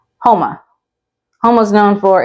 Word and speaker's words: Houma: So it's spelled like this, and it's pronounced Houma.